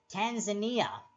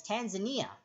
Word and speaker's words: Tanzania: Tanzania, pronounced. Oh, I call it Tanzania, but it's Tanzania.